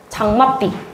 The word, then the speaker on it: 장맛비: 발음할 때도 어떻게 하는지 볼게. 장 맛 B가 된다. 그죠? 장맛삐. 장맛삐. 그죠? 그러니까 여기 위치 마지막 B가 된 거 맞잖아. 된 소리.